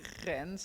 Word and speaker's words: Rens: And you can pronounce it like Rens.